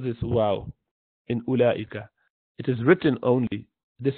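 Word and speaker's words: أولئك: You do not pronounce this wow in ulaika.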